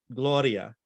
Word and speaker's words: Gloria: So we will be singing Gloria. And if you hear that R, it's got one flip, Gloria, Gloria.